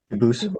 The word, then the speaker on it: Dubus: They do pronounce it dubis, but you said you pronounce it dubus as the original dubus as the original French.